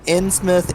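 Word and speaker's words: Innsmouth: it ant's mouth uh in smith ins mouth uh it's actually usually pronounced in smith but that's why would you pronounce it differently if that's how it's written in smout because hp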